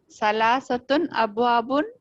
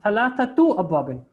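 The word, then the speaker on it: ثلاثة أبواب: Salasatun abwabun. Very good. So it is thalathatu abwabin.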